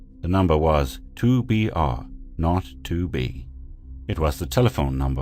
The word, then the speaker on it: 2BR02B: call the zero in the telephone number he pronounced not the number was 2BR R not 2B it was the telephone number of an institution